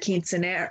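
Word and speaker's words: quinceañera: And, you know, I think that the celebrations like the quinceanera, how do you say quinceanero?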